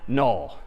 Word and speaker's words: NUL: So we might draw it like this instead and this character is again sort of pronounced null or written n ul.